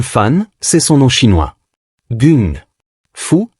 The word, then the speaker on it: gung fu: Gun fou, la prononciation cantonaise de Kumfu, mais ce qu'il enseigne n'est déjà plus du kumfu traditionnel.